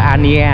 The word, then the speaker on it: Anh Gia: Anh Gia đọc là anh đọc là Ania các bạn, còn người khác thích đọc là Anh Gia cũng được cho nó nhanh.